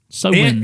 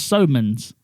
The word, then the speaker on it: Samhain: Sowens.